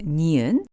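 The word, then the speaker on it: 니은: the second consonant is neon which has a sound very similar to the English n as in nice the name of the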